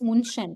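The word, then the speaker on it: München: So um if you tell it it's like moonshand without any uml it's munchen right if you put any here it's not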